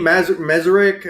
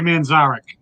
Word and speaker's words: Manzarek: Mazurek. I forget. I can't pronounce his on the freaking organ or what. Oh my God! Come on, Ray Manzarek.